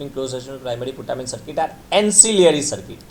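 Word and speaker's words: ancillary: एंसिलियरी circuit में आपको क्या दो चीज़ें ऐड करनी है, मैंने बोला एस से याद रखना, सी के, लेकिन एस की तरह प्रोनाउंसिएशन याद रखना, एंसिलियरी।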